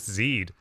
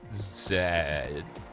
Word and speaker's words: Zed: How long till we get more amazing cutscenes with Zed? Zed. Because he did not do a long E sound. I have confirmed that today in this video. I have debunked the long E Zed.